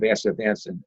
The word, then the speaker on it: astaxanthin: healthy aging, I really like the combination of astaxanthin and coenzyme Q10 together. Oh, it's interesting. That's interesting. This is the first time I'm hearing that. I don't want to try saying it right now, but astaxanthin.